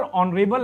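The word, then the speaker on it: honourable: ठीक है, तो यहां पर ऑनरेबल है, इसका प्रोनाउंसिएशन पे निर्भर करता है, ऑनरेबल, ऑनरेबल है,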